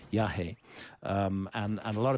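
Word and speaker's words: yajé: form of iasa um is called yah which is spelled y a j e with an accent over the E yah um and and a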